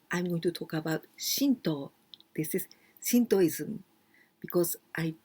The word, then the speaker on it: Shinto: something very holy shinto here we say to but we can also pronounce do like karate or the street not